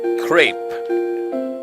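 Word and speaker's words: crêpe: Crepe. Okay, I was way off all the times I tried to pronounce it. It's apparently pronounced like that, I think.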